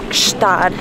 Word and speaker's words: Gstaad: I think you actually say it Gstaad. The G is silent.